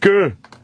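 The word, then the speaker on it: D'yer Mak'er: I was going to talk to you about the famous contraction of Dire Maker by Led Zeppelin. That's how a lot of people pronounce it. Jamaica. Yeah, it's the Jamaica. What is he saying? Did you fuck her? Dire Maker is like, there's an apostrophe in that, too. Right. Yeah. D-Y apostrophe E-R.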